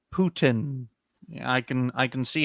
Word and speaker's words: Putin: it says Ryan says I'm pudding hmm no it's pronounced Putin I can I can